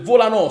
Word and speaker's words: volano: Ragazzi, ci rimane veramente poco, abbiamo messo anche il, se non sbaglio, il volano si dovrebbe chiamare, che vedo che c'è l'accento sulla O.